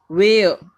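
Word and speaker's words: where: ठीक है, फिर है वेयर, एयर, वेयर, are silent है यहाँ पर, फिर से देखिए ये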